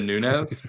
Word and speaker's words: Nunes: Like we're assuming guys like McGregor and Amanda Nunes or whatever will hold long-term value. One day you're going to say her name right. Amanda Nunes?